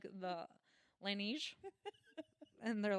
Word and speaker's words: Laneige: And then we looked it up right before this episode, and we got the correct pronunciation. So it is the Laneige sleep mask Yay!